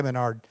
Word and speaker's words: Menard: Is it Menard Chiropractic? I don't want to mispronounce that. Menard or Menard? Okay, I must say Menard. If you're Dr. Menard, Joey gave me Yeah, pronunciation. I said it wrong.